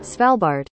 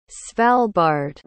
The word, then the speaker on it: Svalbard: Did you pronounce it right? Well, I looked it up on Google Translate before I said it. Svalbard. Svalbard.